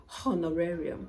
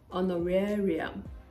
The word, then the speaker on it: honorarium: with The Silent Age honorarium on the area so the age is solid it's not honorarium no the H is there but it is non-existent when you're pronouncing it honorarium honorarium same goes for